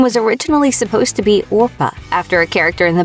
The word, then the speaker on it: Orpah: her name was originally supposed to be orpa after a character in The Bible but so many people got her name wrong that Oprah finally just stuck Winfrey spent